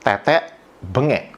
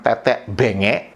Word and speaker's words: tetek bengek: Menurut pengucapan orang Indonesia, pengucapan yang betul adalah tetek bengek. Bukan tetek bengek, bukan tetek benge, bukan tetek bengi.